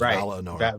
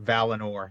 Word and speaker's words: Valinor: That second syllable with that I should be an E sound rather than an I sound. Certainly not an uh sound like we do it as Valinor. Valinor, yeah.